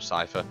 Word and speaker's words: Seifer: kingdom hearts two apparently got seifer on it and they call him cipher however i'm just gonna call him sifa because that's pretty much what i think it looks like now i finally decided